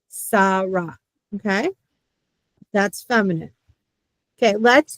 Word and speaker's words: Sara: And that is not a shin. That is a sin. Sara.